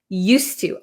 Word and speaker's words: used to: or use but uh there is actually a d here okay used to use to it's just difficult to say used used to it's very difficult so we just cancel out the D sound used to used to